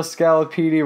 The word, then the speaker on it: scaloppini: be in New York veal scaloppini rhymes with Lamborghini and they're both Italian if you know what